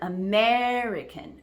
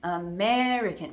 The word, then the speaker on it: American: an example of schah remember the middle the second syllable is stressed amican so I'm pronouncing